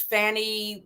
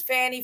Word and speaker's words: Fani: is I don't know if it's Fanny fonnie F i' rather call her fonnie F I don't know why it's pronounced like that but everybody says fonny Willis I think I don't know why they pronounce it like that I I just call